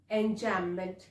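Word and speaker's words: enjambment: device which is called enjam B is silent over here so we will call it enjam what exactly is it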